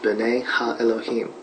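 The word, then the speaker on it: בני האלהים: The sons of God mentioned here in the Hebrew is pronounced ben ha Elohim.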